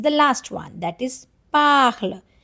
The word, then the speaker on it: parles: That is parle. Pronunciation is parle only, okay?